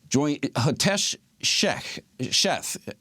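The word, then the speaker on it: Hitesh Sheth: and infrastructure security agency to uncover the hack joint sheth please tell me if i'm uh mispronouncing your name you got it you're great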